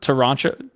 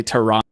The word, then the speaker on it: Toronto: it's like a little Toronto Toronto Toronto yeah like yeah we learned that the right way to say Toronto is Toronto Toronto in late January